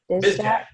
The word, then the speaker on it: Bizak: Is it Bizak? Bizak. Okay. Yeah. Exactly how it looks.